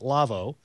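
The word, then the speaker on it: LAWO: It's a German company, so pronounce it Lavo, but it's L-A-W-O.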